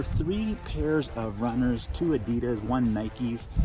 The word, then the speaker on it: adidas: pairs of runners to adidas one Nikes or Adi does depending on how you like to pronounce it and yeah they're super